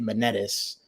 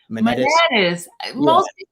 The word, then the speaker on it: Manettas: So I understand if some of the vowels get changed and stuff, but I say it Manettas. Manettas.